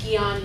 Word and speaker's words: Jnana: yoga means knowledge and I know it's spelled funny and it's not spelled the way it sounds sounds Gan yoga it just means